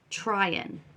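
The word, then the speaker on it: Tryon: that try on trying I've been saying his name wrong y'all it's trying try on sounds like trying do you suppose Joel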